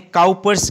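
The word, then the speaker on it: Cowper: हैं कोपर्स ग्लैंड देखो जिसे इसे पढ़ने हम कॉपर से लेकिन लिखने इसे को पद से तो आप लोग भी इस तरह से पढ़िए की आप लोग एग्जाम में इसकी स्पेलिंग को भूल ना जाए मिस ना कर जैन सो मेरी रहे आप लोगों को ये है की आप लोग इसे कॉपर से ही पढ़िए ये जो कॉपर ग्रहण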